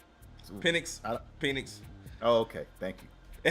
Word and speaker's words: Penix: I believe B. James pronounced his name Penix. Penix.